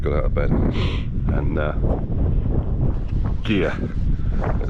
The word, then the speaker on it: Gigha: And Gigha, it's pronounced G-I-G-H-A.